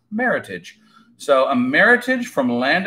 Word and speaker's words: Meritage: wine maker portmanteau and it's actually a combination of the word merit and heritage and is pronounced Meritage so a Meritage from